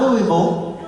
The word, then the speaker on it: Louisville: You're from Louisville, and I know you're from Louisville because you say it right. It's not Louisville. It's Louisville. It's Louisville. In the same way that I'm from Nashville.